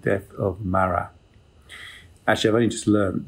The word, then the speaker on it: Marat: he did in 1793 called the death of mara actually i've only just learned that's how you pronounce it it's been about 10 minutes trying